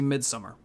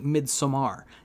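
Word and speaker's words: Midsommar: I went to see midsummer excuse me actually mid Samar yes that's how you're supposed to pronounce the name of that movie so I like I'm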